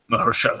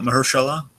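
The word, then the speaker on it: Mahershala: Mersa by the way Dragon that's how you pronounce it mahalah mahalah we've been pronouncing it long wrong for like wait so it's it's not Mersa it's mahalah yeah mahalah right yeah Mersa okay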